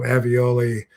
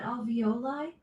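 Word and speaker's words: alveoli: into pockets and crevices um in your um avioli Alexa, how do you pronounce that word in your lungs? Avioli airbags. Are you asking about alvoli?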